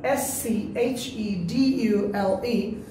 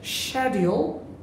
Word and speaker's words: schedule: Then এটার উচ্চারণ SCHEDULE, এটারে আমরা অনেকেই বলি শিডিউল অথবা বলি স্কেডিউল, আসলে এটা ব্রিটিশ উচ্চারণ আছে schedule, not schedule but schedule or schedule, British উচ্চারণ হচ্ছে schedule or schedule.